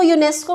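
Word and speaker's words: UNESCO: जैसे आप इसको अलग अलग नहीं बोलते, UNICEF नहीं कहते, यूनिसेफ कह देते हैं, इसको यूनेस्को कह देते हैं और इसको नाटो।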